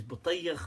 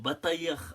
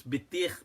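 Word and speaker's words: Battikh: Mufti, Mufti Uthman Butayyikh, I think his name is Butayyikh. I think he pronounces it like that. Or Batayikh, I'm not sure. It looks like it's Bitikh, which would be rather offensive, I think, because isn't Bitikh a watermelon? But I'm sure it's not Bitikh, I think it's Butayyikh, his actual pronunciation is.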